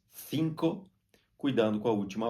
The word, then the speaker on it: cinco: em português em espanhol na Espanha se pronuncia A C com a língua entre os dentes cinco Cuidando com a última